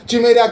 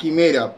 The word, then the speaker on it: Quimera: estuvimos probando la Operación Chimera, que estuvo impresionante. Ya sé que no se dice Chimera, se dice Quimera, pero me importa muy poco lo que piensen ustedes.